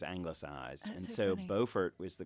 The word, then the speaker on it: Beaufort: Not Beaufort, North Carolina. Not Beaufort, but Beaufort. Both named for the Duke of Beaufort, but South Carolina with doesn't know how to pronounce things.